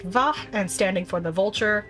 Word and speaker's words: V: The V tribe, pronounced Vah and standing for the Vulture, are most likely based out of La Noscea.